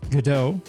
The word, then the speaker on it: Godot: so let's start with the variations that are really common there's goto Godot go dots godotes and the one that I used Kato and I'll add a quick disclaimer here however you want to pronounce it it's fine except for gouda that's just wrong maybe eventually one pronunciation